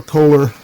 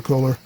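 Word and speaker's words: Köhler: And that should give me enough adjustment range to bring this into proper Kohler. I know that's not the German pronunciation, but bring it into proper Kohler adjustment.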